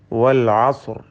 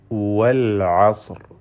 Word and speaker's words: വൽ അസ്ർ: വൽ അസ്ർ, ഇതിൽ വാവിൻ്റെ ഉച്ചാരണം വരുന്നത് രണ്ട് ചുണ്ടുകളിൽ നിന്നാണ്. മറിച്ച് മലയാളത്തിലെ വാ പോലെ താഴെ ചുണ്ടും മേലെ പല്ലുമല്ല. രണ്ട് ചുണ്ടുകൾ ചേർത്ത് വെച്ചുകൊണ്ട് വൽ അസ്ർ എന്ന് ഉച്ചരിക്കേണ്ടതാണ്. ഐൻ പ്രത്യേകം ശ്രദ്ധിക്കുക, ഹൽക്കിയായ ഹർഫാണ്.